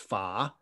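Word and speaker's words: 法: that's the character it's in modern mandarin pronounced pha and you might notice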